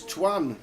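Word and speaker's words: Tuan: Make sure you spell it right. It's Twan, T-U-A-N. Not Tua, the quarterback for the Dolphins.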